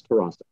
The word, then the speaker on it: Tarasuk: I believe it's Tarasuk Jr. Close enough, sir. It's Tarasuk. Pronounce it again. What is it? Tarasuk. Think Tarasuk. Of Jurassic Park.